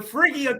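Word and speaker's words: Phrygian: cap, which is called the, how do you pronounce that? The Phrygia cap. Mm-hmm, mm-hmm. And the Phrygia cap is actually Phrygia.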